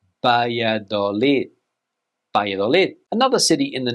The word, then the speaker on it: Valladolid: Now, this city is in northern Spain, and in English, we would say Valladolid, but in Spanish, Valladolid. Valladolid, Valladolid.